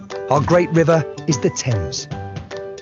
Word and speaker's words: Thames: to start with our great river is the thames greenwich leicester square borough one of the best